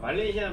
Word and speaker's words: Malaysia: ELP (Easy yet difficult) Then pronounce it one syllable at a time Malaysia Not Malay..